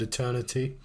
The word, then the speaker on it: eternity: I didn't like that he didn't pronounce the T in the word eternity. I feel like it loses some of its kind of grandeur if you just call it eternity.